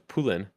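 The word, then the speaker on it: Poulin: uh her last names I say poolean but it's French so it's pulin but I'm not gonna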